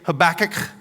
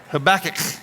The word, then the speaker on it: Habakkuk: Now, to pronounce his name, it's it's almost like you know how a cat gets a furball in their throat. That that's kind of you got to have that sound to it. Okay. Habach.